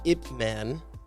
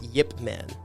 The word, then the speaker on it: Ip Man: that so I guess in Mandarin it is pronounced Ip Man but in Cantonese it's pronounced Yip Man that's what you were